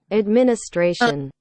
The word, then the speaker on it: administration: là chữ này n nó sẽ là administration administration thế nó đọc vậy thôi nó không đọc là đâu Khi nào ch th nha nó